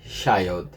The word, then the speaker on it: child: no dente ó a gente não fala igual a gente falaria no portugês o deudo mais um com som de i né não o d é como o som morre ali no D child tá E crianas no